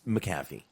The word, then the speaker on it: McAfee: mcafee i'm sorry i i just can't say mcafee it's not spelled like that i feel weird it's mac it's mcafee okay and and michael